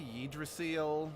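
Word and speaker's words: Yggdrasil: not you yeah I'm pretty sure they mispronounced that because that's supposed to be the name Lord you that was that's supposed to be yidra seal the Norse you know Tree of Life because like I said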